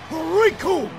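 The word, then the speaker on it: Recoome: to this man, because the name's Raccoon, and it rhymes with doom, and you're gonna be hurting all too soon!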